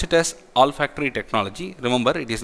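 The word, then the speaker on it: olfactory: send technology all are all factory technology we pronounce it as all factory technology remember it is not Oh L it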